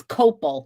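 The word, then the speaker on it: copal: resin oh I'm sorry it's copel not Coral I know it's it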